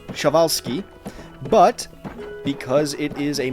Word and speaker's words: Przewalski: And secondly, yes, despite the spelling, it is pronounced shavski.